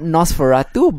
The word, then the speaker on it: NOS4A2: guess he is but it's called nosferatu but it's spelled nos4a2 that doesn't sound it's actually